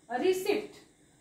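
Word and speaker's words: receipt: सारे जण रिसीप्टच म्हणतात पण हा ऍक्च्युअल या शब्दाचा उच्चार प करायचाच नसतो हा असतो रिसीप्ट रिसीप्ट रिसीप्ट okay रिसीप्ट मिळाली का आपण पैसे पेड करतो आणि मग आपण रिसीप्ट घेतली का म्हणतो तर रिसीप्ट नाही पट नाही पी वाचायचा नाही रिसीप्ट त्याला म्हणायचे रिसीप्ट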